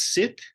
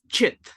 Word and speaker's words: Chit: Is this Sit? It's Chit. Chit.